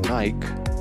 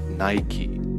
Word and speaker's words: Nike: brand sometimes they pronounce nike instead of the proper pronunciation it is correctly pronounced nike so n-y-k-a-e and the name comes from the greek goddess of victory the daughter of the